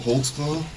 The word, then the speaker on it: Holtzclaw: I'll let your name there cuz I don't even know how to spell it. I can How do you say your name? Daniel Holtzclaw. Holtzclaw.